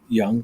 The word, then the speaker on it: Yonge: And because it was called Young at Heart, but it's spelled Yonge, Young, which is the Yeah.